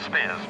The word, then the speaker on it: Spears: John Spears, I have an information sheet, and he makes the point, I've been saying Spires as well, it's Spears.